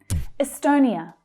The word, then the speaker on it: Estonia: Estonia, Estonia. So that stressed syllable there is the second one, the O vowel sound, as in go.